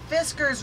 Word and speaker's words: Fiskars: and their poultry shears because Fiskars rhymes with whiskers oh that's what it